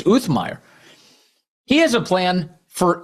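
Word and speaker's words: Uthmeier: Florida's attorney general, James Um, Um Meer, that's that's how he pronounces his name. I didn't realize that. It's Uthmire.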